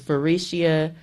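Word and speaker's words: Faurecia: have to do is type in the name ferecia and it's spelled f as in Frank a u r e c i a and that is farishia they're looking for production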